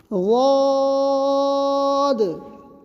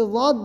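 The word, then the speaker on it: ضاد: غاد. اس کا ادا کرنا بہت ہی کٹھن ہے. بس اتنا سمجھیں کہ غاد جو ہے زبان کا کنارہ اور چبانے والی جو دانت ہے اس کے پاس سے لے جا کر بولیں گے.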